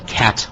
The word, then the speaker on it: khat: a plant uh that's called a cat plant and that's called spelled khat and the uh ingredients